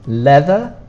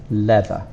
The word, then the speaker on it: leather: again it's two words leather you might think this a you don't need but you need to put it in the spelling but not the pronunciation leather and gloves we had